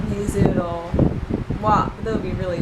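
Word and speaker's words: は: But this one is wa. It's actually written with the hiragana ha for some reason. Don't know why, again. But it's pronounced wa.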